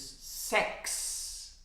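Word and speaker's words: sechs: is about CH s CH s is pronounced as an X so the number six in German is sex huh it's the firm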